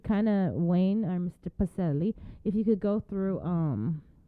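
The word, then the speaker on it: Pacelle: Is it Pacelli or Pacell? I just want to make sure I get that right. Pacelli. You got it right the first time.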